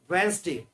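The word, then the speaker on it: Wednesday: वेंसडे में D silent रहता है, आगे वाला पहला वाला डी।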